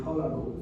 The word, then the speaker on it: Peleg: All the way to, I pronounce it Peleg, okay? But Hebrew pronunciation would be Pelagu.